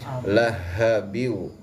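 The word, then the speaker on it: لهب: Tabbat yada abi lahabiu. Bukan samar lahabiu ya. Bukan H kecil tapi H besar besar watab watabnya qalqalahqah ya.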